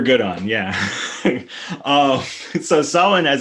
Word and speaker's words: Samhain: the issue it's it's the mh uh becomes a w like sound in irish uh as it's as it's then written with with the an english character set so it's pronounced solon uh as opposed to